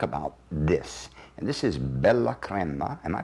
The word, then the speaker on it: Bella Crema: And this is Bella Crema. Am I pronouncing it correctly? Bella Crema. Bella Crema in Italian.